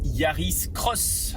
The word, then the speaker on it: Yaris X: de la nouvelle Toyota Yaris cross alors ça s'écrit Yaris X mais on lit le X comme un cross puisque c'est une croix bref après la sémantique